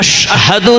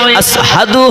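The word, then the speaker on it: أشهد: যেহেতু তার ওইখানে মোটা বড় শিন হয় না, আশহাদু না হয়ে আসহাদু হয়, কারণ মোটা আছে।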